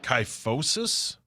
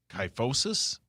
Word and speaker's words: kyphosis: Kyphosis. Oh man. How do you spell it?